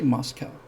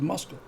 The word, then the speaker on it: Moscow: what it's supposed to be i don't say moscow i say moscow that's how it's pronounced moscow and i know that because my